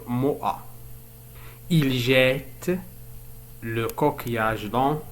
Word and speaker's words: Moha: Moha هو اسم عربي، لهذا قمت بنطق أش. أما أش في اللغة الفرنسية فلا ينطق، سنقول موأ.